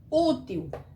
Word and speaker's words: útil: Então, aqui, Útil. A gente vê que a palavra já é mais forte, porque a palavra útil, ela tem um acento.